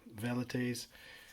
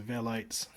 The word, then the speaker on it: Velites: some of the skirmishers, the Velites or Velites. I think I'll stick to Velites, more anglicised pronunciation, because if I call them Velites then I'll have to call hoplites hoplites, and that just sounds a bit odd to me.